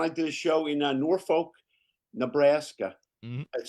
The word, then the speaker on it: Norfolk: It's But people, you know, it's it reminds me when I did a show in Norfolk, Nebraska. Mhm. It's spelled Norfolk, but they call it Northfor.